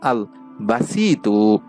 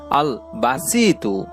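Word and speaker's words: الباسط: আল্লাহ তাআালার সেই পবিত্র গুণবাচক নামটি হচ্ছে বাংলা উচ্চারণ হচ্ছে আল বাসিতু। আমি আবারও বলছি আল বাসিতু।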